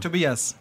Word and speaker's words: Tobias: Tobias. And your full name? Like 2 beers.